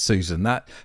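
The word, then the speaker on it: Sussan: Well, she puts an extra S into her name, but it's pronounced Susan.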